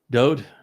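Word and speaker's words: דוד: And the Wa is a vowel and is pronounced as the O sound.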